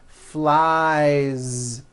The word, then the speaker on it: flies: one shoe two shoes next is the verb fly which ends in the vowel sound I so you've got I fly he flies keep that ending voiced flies the last sound you